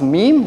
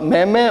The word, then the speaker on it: MEME: to point out that this is pronounced meme not mehme or mimi or something like that uh which is the european version of it um consensus gibbs samplers